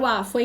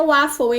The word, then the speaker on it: waffle: Ai, eu adoro waffle, hein? Ó, a pronúncia é waffle, hein? Tá? Não é waffle, não. É waffle. Bom dia, Antônio.